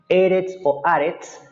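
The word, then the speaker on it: ארץ: hebreo eres arts aritz yo pronunció la r un poquito cultural se los dije la clase pasada se puede hablar un poquito diferente en hebreo con lage con esa r un poquito más cultural o no algunos dicen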